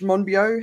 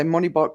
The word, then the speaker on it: Monbiot: accelerate climate breakdown george monbiot how do you say his name the guardian journalist i never i always say moneybot but it's not it's monbio anyway i thought he